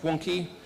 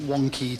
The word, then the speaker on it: Wonkhe: In case you're wondering, CG has a silent H like Wonkhe.